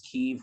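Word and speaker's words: Kyiv: the correct ukrainian way to punch it is keef we are saying heave that's fine it's good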